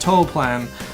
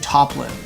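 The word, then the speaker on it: Toaplan: video that I where I mispronounced toll plan cuz I looked at some other videos and they were saying toppin and I'm like okay well I guess it's called that even though it reads like toll plan I released it mispronouncing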